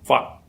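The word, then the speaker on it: 發: And it is pronounced in Cantonese as fat. Fat. Again, it ends with an unvoiced t.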